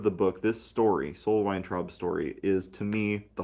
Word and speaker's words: Weintraub: Probably the most interesting, and certainly my favorite character, is Sol Weintraub. Uh, I think the probably correct pronunciation will be Weintraub, but I'm going to say Weintraub because that's just easier to say.